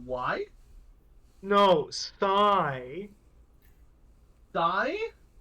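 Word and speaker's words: Psy: I didn't hear what you said why no sigh th like PSI he says yes like the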